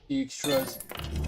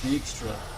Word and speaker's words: Dijkstra: Dijkstra's. It's nice to actually know how to pronounce Dijkstra.